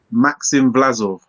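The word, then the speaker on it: Maxim Vlasov: Um yeah, I can't pronounce the Giza's name. What's his name? Maxim Blazov.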